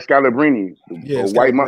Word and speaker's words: Scalabrine: Right, Scalabrine.